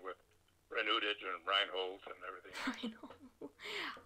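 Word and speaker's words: Renoudet: It's pronounced pretty much the way I spell the professional name, Renaday. Ah. Originally, it would have been Renaday, but nobody says that.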